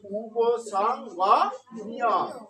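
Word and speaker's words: উপসঙ্গম্য: দুইটা বর্ণ আছে, একটা উম আর একটা গ। তাহলে দুইটাই আলাদা আলাদা ভাবে উচ্চারিত হবে। তাহলে উপসং, তাহলে আমরা আগে উম উচ্চারণ করবো, উপসং। তারপর কি আছে? গ, তারপর গ উচ্চারণ, তাহলে উপসং গ। তারপর মর সাথে জফলা থাকার কারণে আবার ম জফলা উচ্চারণ ইয়, তাহলে মইয়, তাহলে উপসং গ নিয়, উপসং গ নিয়।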